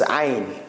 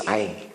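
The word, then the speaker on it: عين: You have to squeeze it. So like somebody strangling you. So you do, because you have muscles here. The muscles, they squeeze on this windpipe. Let's see. Like it goes like narrow. So it's very easy. So this is ayn.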